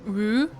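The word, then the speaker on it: Ü: U pronounced Woo is a traditional name of a central region in Tibet.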